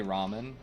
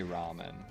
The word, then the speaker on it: ramen: a cute ass dog how about this to to show you what I'm saying we say Ramen very clearly understood as Ramen go ahead and watch a Japan a a Japanese person say Ramen no no no I